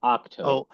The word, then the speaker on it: Ahch-To: pronounced Ahch-To.